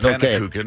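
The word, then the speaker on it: Pannekoeken: Pannekuchen.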